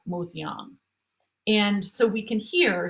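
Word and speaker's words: 麻雀: was written in chinese what would have been pronounced in mandarin or what's spoken in beijing as machui however in shanghai it would have where it was developed that would have been pronounced more like moseong and so we can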